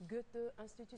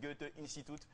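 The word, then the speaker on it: Goethe-Institut: Goethe Institut, ça Goethe c'est en allemand. Institut. Hein. Tu le prononces avec l'accent allemand, là.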